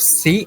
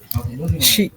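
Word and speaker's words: し: Untuk si, nah ini bukan si, bukan seperti ini, Bayu Sang. Tapi shi.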